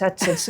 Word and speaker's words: AdSense: Ella ha vivido los cambios de que antes le preguntaba cómo se pronuncia el Google si AdSense Adens es AdSense, Google AdSense.